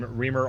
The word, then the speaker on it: Remer: I know you said it quickly, but can you say your full name and spell it out? Sure, last name Remer, R-E-M-E-R, Sustainability Resilience Officer.